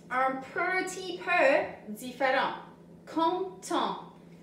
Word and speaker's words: content: Content. Tu n'entends pas le T à la fin de content.